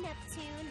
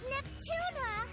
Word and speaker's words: Neptune: myself yet hi I'm Neptune the film club president NEP oh my gosh the throwback she still can't pronounce it neptuna oh my gosh the